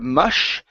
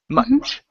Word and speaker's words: much: to this word here give me a good CH sound at the end instead of mush much much much good uh